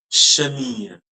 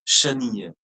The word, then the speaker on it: chenille: But it's not chenille, madam. Your Okay. pronunciation will end on with the I, I found rolling I only. Okay. chenille. The last E will be totally silent.